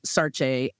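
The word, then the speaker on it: Saartjie: Sarah was like sort of the English name that they called her. I think the correct pronunciation of her name was Sarche.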